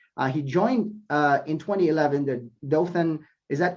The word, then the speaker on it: Dothan: He joined in 2011 the Dothan. Is that correct? Am I pronouncing that correctly? Yes, Dothan Downtown Redevelopment Authority.